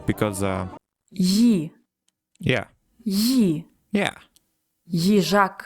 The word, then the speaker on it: Їжак: Їжак. Їжак. Okay, let's say it together now, okay? Їжак. All right, let's go. Їжак.